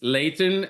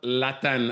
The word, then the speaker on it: Lathan: It is Lathan and not Lathan, as I would say in French.